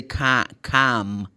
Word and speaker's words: calm: And this word, for instance, say calm. But you have the letter L. It's not pronounced.